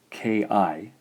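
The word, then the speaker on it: き: This gives us in English Ki, Ki.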